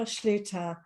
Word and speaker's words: Schlueter: with me today um her name is Jennifer Schluter I had practiced that because I get some